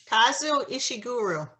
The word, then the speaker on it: Kazuo Ishiguro: how is everybody tonight good how do you pronounce the author's name say it again nancy kazuo ishiguro thank you the uh so i guess the